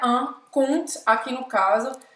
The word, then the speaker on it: compte: Un conte tem um P no meio, mas não se pronuncia. E o que é un compte, aqui no caso, é uma conta, como uma conta bancária, por exemplo, certo?